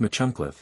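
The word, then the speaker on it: Machynlleth: daff gam Laden's Hatchet Mackle pronounced machun is one of the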